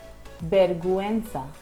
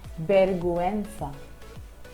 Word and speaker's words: vergüenza: When used on the vowel U, the vowel U is pronounced. Let me help you pronounce the following examples. GUE becomes vergüenza, vergüenza.